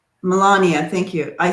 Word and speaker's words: Melania: this charade um sweetie darlings um wondering where malayana melania thank you i say it wrong every time